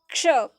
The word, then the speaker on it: क्ष: तो क्ष, क्ष हम इस तरह बोलते हैं ना, तो देखिए क और श के मेल से, क और षटकोण श के मेल से बना है आपका छ।